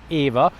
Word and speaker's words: Eva: have to pronounce it Eva because the two brothers who founded the company their mother was a Hungarian lady and her name was Eva that's how we pronounce it in Hungarian language and that's why the